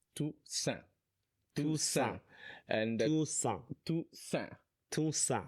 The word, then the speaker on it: Toussaint: or you Congolese, I'm from the DRC, it's Toussaint.